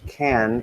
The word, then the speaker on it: can: So in spoken English, can is usually unstressed and pronounced can. Can't is stressed and pronounced can't, with the final sound being a glottal stop.